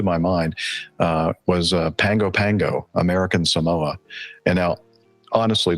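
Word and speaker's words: Pago Pago: Pango Pango and it it's looks p a o so I I thought you know that looks like pgo pgo to me but for some reason we pronounce it Pango Pango and I said so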